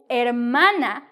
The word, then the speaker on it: hermana: Tu hermano brother to hermana sister now note here I'm not pronouncing the H because the H in Spanish is silent yes it is a